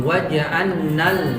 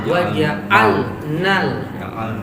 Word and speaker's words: waja'alna: Nah, di sini perhatikan jangan sampai lam melebur ke nun. Jadi ada orang baca waja'annan gitu, waja'annal gitu ya. Harusnya lam waja'alnal. Tapi dia baca langsung ke nun. Waja'annal ya. Ini kelihatannya kan sama ya. Iya. Hati-hati. Karena lam mati setelahnya ketemu nun, maka dia dibaca izhar. Dia nggak boleh idgham. Meskipun makhrajnya berdekatan, bahkan sebagian ulama mengatakan dia satu makhraj.